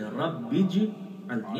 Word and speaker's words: رب اجعلنی: پڑھتے ہیں رب اجعلنی، صحیح تلفظ یہ ہے رب اجعلنی، اصل میں ربی اجعلنی ہے، اجعل امر کا صیغہ ہے، بے کو پھر جیم سے ملاتے ہیں، درمیان سے حمزہ گرتا ہے، رب اجعلنی، اور ہم